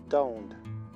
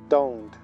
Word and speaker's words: don't: Recuerda que pronunciamos don't, don't. Suenan las vocales O.